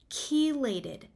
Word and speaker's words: chelated: So I'm going to talk about the supplements that may be gentler on the stomach, and specifically those are chelated forms of iron. So that's spelled CHELATED, chelated forms of iron.